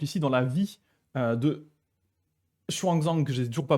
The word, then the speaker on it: Xuanzang: Et donc on en a un exemple ici dans la vie de Xuanzang, que j'ai toujours pas prononcé correctement, mais Xuanzang, hein, du coup, je rappelle, un pèlerin et traducteur.